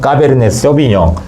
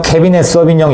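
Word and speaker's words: Cabernet Sauvignon: 먼저 이제 오늘 포도 품종을 좀 설명을 해드릴까 하는데, 자, 첫 번째 까베르네 소비뇽. 자, 까베르네 소비뇽, 캐비넷 소비뇽 여러 가지 다들 이렇게 말씀하시는데 정석 없습니다. 입에 붙는 대로 발음하시면 되는데, 자, 먼저 까베르네 소비뇽.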